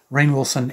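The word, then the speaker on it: Rainn Wilson: Rocker the movie with Ryan Wilson is it Rayne Wilson or Ryan Wilson it's spelled like it should be pronounced Rhine not rain but anyway rain Wilson and uh titty Geiger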